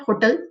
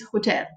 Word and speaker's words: hotel: And for example, I can tell you, say, hotel. No, it's not hotel, it's hotel. Like we went in the economy class. So the second part is stressed, yeah.